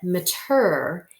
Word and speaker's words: meter: about this syllable and you actually pronounce it mature in us in a multi syllabic word like in the words thermometer and diameter so when you see this in a large word you will pronounce it mature instead of meter okay and maturer actually